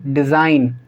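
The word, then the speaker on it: design: से पहले जी है, तो इसको हम क्या पढ़ेंगे? डिज़ाइन, कैंपेन, रिज़ाइन और साइन। ठीक है, तो इन सभी के अंदर जी साइलेंट है।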